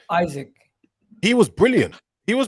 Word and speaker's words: Isak: Is it Isak or Isaac, or how do you pronounce his name? Isaac.